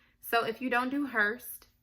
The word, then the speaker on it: Hurst: us, like autoimmune and things like that, then Hurst might be good for you, because they're going to go into that in more depth.